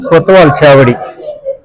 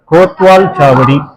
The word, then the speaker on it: கோட்வால் சாவடி: 1200களில் இந்த கோட்வால் இருக்கு பாருங்க, இதன் மருவல் தான் கொத்தவால் சாவடி. கோட்வால் சாவடி அதுதான் சரியான உச்சரிப்பு.